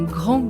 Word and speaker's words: grand: pronounced so angr gran we don't pronounce the d at the end but grand we pronounce